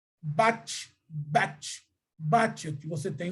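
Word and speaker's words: בת: Então, você tem o bate, a pronúncia é bate e a transliteração é filha, tá bom?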